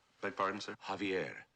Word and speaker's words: Javier: to the Crestmont Hotel Javier beg pardon sir Javier not Javier The The J is silent you pronounce it like a ha uh Javier I can't